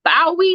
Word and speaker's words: Bowie: got my girl lashawn leshon lives in uh bowie am i saying it right sean bowie marilyn yes bowie maryland that's a really really really good i